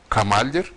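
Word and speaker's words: Kamâl: ve kale manasına olan Kamal son anın tahfif işareti l'yi yumuşattığı için telaffuz hemen hemen Arapça Kemal telaffuzuna yaklaşır benzeş bundan ibarettir deyip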